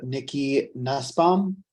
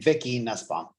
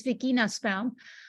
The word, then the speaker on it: Vicky Nussbaum: So moving on, we have Nikki Nussbaum. Hi, can you hear me? Yes, we can. Hi. I'm sorry, I mispronounced your name, Vicky Nussbaum.